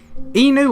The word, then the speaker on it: Enu: Inu or Enu? I think it's Enu, but I keep saying Inu for some reason.